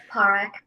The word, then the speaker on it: Parekh: about okay great and have I been mispronouncing your last name yes and it's okay it's parekh sorry it's all good I thought I was doing so good no but you know what I really did like that pronunciation so yeah it's like Tarjay exactly oh gosh well